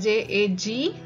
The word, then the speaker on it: jag: We write it like J-A-G, but we call it as jag. Just jag. Okay, G is not pronounced so much. It is not stressed so much.